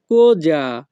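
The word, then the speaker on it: cosa: কি কোজা সোনো কুয়েস্তি এখানে সি ও কো এস এ এর উচ্চারণ হবে কোজা ইতালিয়ান সেন্টেন্স কোজা সোনো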